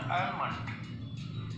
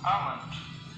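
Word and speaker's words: almond: हैं और कहते हैं आलमंड। इसमें एल साइलेंट होता है और इसे प्रोनाउंस किया जाएगा आंट। आलमंड ये आलमंड नहीं होगा। आलमंड नहीं होगा या आलमंड नहीं होगा। ये होगा आलमंड।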